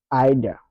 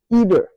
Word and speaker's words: either: Il avait d'abord écrit le mot au tableau, mais pour la prononciation, lui dit either, either.